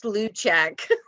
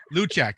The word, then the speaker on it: Lukic: It's Luchak. Luchak, okay. All right, tell us about your piece here.